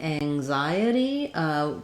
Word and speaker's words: anxiety: Then when we get to anxiety, we change the stress. The stress here is on the xi syllable, and letter X is going to make a different sound. In anxious, it has the k and the sh sound. In anxiety, it's going to have the z sound.